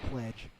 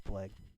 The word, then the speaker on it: Plague: Plague's an easy one to mispronounce. A lot of people might call him Pledge. That's kind of funny too, but yeah, it's Plague.